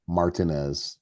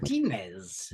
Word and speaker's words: Martinez: Say it properly, Mike. Martinez, not Martinez. Say it like an Englishman. Martinez.